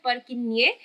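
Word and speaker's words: Purkinje: ये था परकिन्ये, लिखते हैं KINJE बट उच्चारण है परकिन्ये।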